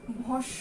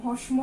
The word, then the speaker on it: ভস্ম: এটার উচ্চারণ কি, ভস্য, শয়ম আছে, এটার উচ্চারণটা গ্রীষ্মের মতো। হ্যাঁ, এটাকে যদি আমরা বলি বানান রূপ গ্রীষ্ম, অনেকেই আমরা গ্রীষ্ম বলি, কিন্তু বেসিক্যালি এটা আমরা উচ্চারণ করি কি, গ্রীষ্ম। ঠিক একই ভাবে এখানে ভস্য উচ্চারণ হবে, ভস্ম না,